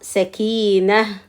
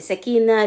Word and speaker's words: سكينة: سكينة. Ça s'écrit comme ça. Et Sakina, le T à la fin, toujours quand on arrête sur le second, ça se prononce H, il ne faut pas oublier.